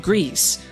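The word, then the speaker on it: Gris: that comes from nomad Studio the studio behind Greece yes that's how it's pronounced at least one less mystery in our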